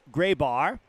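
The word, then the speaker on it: Greybar: becomes a habit but I understand now it's gry bar it's m MRI and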